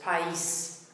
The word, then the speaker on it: país: If the accent wasn't on the E, it would be país, but the accent there splits into two syllables, país.